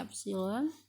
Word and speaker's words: epsilon: Jika untuk setiap bilangan positif epsilon ya, ini E dibacanya epsilon, untuk setiap bilangan epsilon